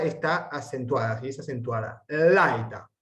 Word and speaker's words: laeta: Laeta, laeta, no podemos acentuar la eta, no, laeta, porque si no rompemos el diptongo.